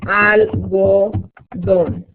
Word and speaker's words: algodón: So, we have la seda, el cuero, la lana, el poliéster, el algodón y la mezclilla. So, number 1, número 1 es, yeah. Número 1 es el algodón. Acento en la O.